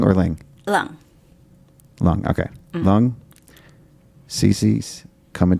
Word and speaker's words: Leung: Is that how you pronounce it? Lung or Ling? Leung.